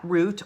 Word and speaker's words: route: at number one that route or route is longer than this one okay comparing one route or route to another you can pronounce those either ways that's what I'm saying rude a route okay so that's which